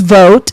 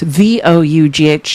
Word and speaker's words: Vought: Russ Vogt is spelled Vought. His name's Russell Vogt, Vought.